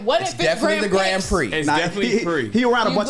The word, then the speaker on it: Grand Prix: what no we just because you called it Grand Pricks and I've never oh no Grand PR Grand Prix Grand call Grand P off